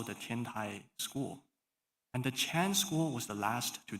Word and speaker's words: Chan: So you might have heard the word Zen from many publications in English, all talk about Zen, but the Chinese pronunciation of Zen is Chan.